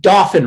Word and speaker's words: Dauphin: so concerned about pronouncing dolphin right it is dolphin sounds like dolphin but it's not dolphin